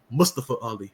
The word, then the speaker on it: Mustafa Ali: Oh, and by the way, Daniel, it's Mustapa Ali. You got to say it right.